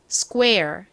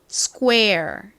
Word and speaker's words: square: 그래서 스이 아니라 거의 요렇게 쌍기에 가깝게 스 square 이렇게 발음이 됩니다 자 따라해 보실게요 스꾸 에를 빠르게 연결한 느낌으로 소리를 내 주시면 됩니다 해 볼까요 square 좋습니다 한 번 더 해 볼까요 square 오케이이